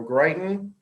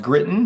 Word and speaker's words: Gritton: Greighton, who is a director, is going to present us some information regarding the Kentuckiana Works program. Thank you. It's pronounced Gritton, Gritton, but I'm glad to be with you.